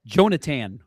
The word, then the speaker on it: Jonatan: It's It's actually It's Jonathan. There's no H. Jonathan. Jonath Jonatan.